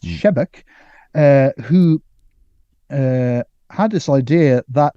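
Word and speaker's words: Sebeok: by some mutation called Thomas shebek he spelled sibioc but it's pronounced shebek who had this idea that the solution would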